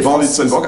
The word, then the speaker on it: Van Litsenborgh: en direct du 314 du premier étage, pour être précis, avec Van Litternburg qui est à mes côtés. Van Litternburg, absolument Laurent, merci. C'est bien prononcé. Magnifiquement. C'est pas facile à dire.